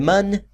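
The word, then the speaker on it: Mun: carabin has two man moons uh it's the man as it is pronounced m u n m it's supposed to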